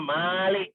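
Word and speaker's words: مالك: pada Hari pembalasan Nah kalau yang merajai Malik itu ya minnya itu panjang dibacanya Malik ya begitu tapi kalau saja ya bukan yang merajai itu adalah Malik ya jangan dipanjangkan contohnya misalnya ada di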